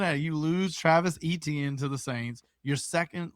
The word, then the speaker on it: Etienne: Like I said, I thought you had mixed up Devon A-Chain from the Dolphins, and that's why I was like, nope, it's pronounced the same way. It's just spelled stupid.